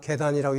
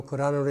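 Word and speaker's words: 契丹: 아까 말하는 계단이라고 읽지 말고 거란으로 읽어라.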